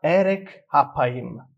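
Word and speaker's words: ארך אפיים: cominciamo ancora una volta dall'ebraico in cui la frase lento all'ira si pronuncia erek haim o letteralmente tradotto lungo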